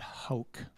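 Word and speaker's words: Hauke: There's a German scholar named, I think his name is Manfred Hauck, is how he pronounces it, H-A-U-K-E.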